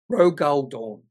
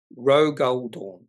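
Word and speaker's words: Rogal Dorn: Lele by the way it's pronounced R Rog goldor it's a character from Warhammer 40K Rog goldor uh yeah I don't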